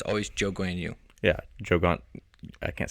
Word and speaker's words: Zhou Guanyu: I'm going to butcher his name, and I don't want to butcher the Chinese guy's name. Oh, Yeah. Zhou Guanyu. Wow. Can you say that again for me? Zhou Guanyu.